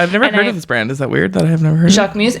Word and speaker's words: Jacquemus: It's Jacquemus. I know it's pronounced Jacquemus.